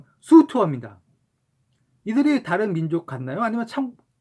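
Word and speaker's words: 粟特: 그리고 속특의 중국어 발음은 수투어입니다.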